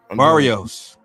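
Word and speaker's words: Barrios: How do you pronounce his name? I forgot. Barios.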